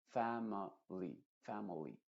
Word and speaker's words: family: si tú te fijas deberíamos decir famil pero no se dice la primera I latina se dice m family lo mismo happily no